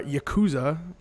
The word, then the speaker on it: Yakuza: Yakuza or Yakuza, as I've heard it pronounced.